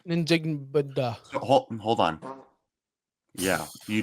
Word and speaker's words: Njigba: Hold on. N-Jig-Ba. It's literally African dialects are very much pronounced as it looks like.